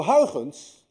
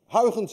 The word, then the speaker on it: Huygens: Huygens, by the way, is difficult to pronounce. Anyone of you who knows how to say Huygens correctly is also Dutch, because you miss the ui in your language and you miss the g in your language.